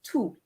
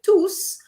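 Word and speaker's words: tous: instead of two okay i'll remind you that t-o-u-s is two okay when you say twos uh straight away i'm thinking of the verb to say which means to cough okay now i'm going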